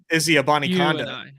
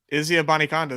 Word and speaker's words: Abanikanda: Izzy Abanikanda. There he is. Wait, Wakanda forever? What? There you go. Izzy. But it's like spelt like Israel. Like it's it's not pronounced Izzy.